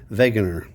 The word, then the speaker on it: Wegener: Alfred Wegener. It's spelled with a W, but it's pronounced like a V. Wegener.